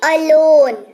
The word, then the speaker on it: alone: वाला शब्द देख लीजिए, ALONE, इसको पढ़ते हैं अलोन।